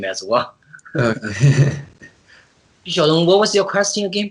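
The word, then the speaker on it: Xu Xiaodong: So, what is your opinion of Xu Xiadong, if I'm pronouncing that right?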